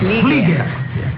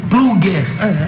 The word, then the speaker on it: Flieger: A pronúncia correta é essa, Flieger. Mas eu já ouvi Plugger, eu já ouvi Plueger, Flieger. É Flieger, gente.